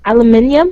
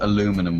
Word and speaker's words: aluminium: needs right here Alum Al what alumin aluminium aluminium that's how you say it yeah yeah aluminium aluminium I I remember um someone said aluminum once I was like what the hell is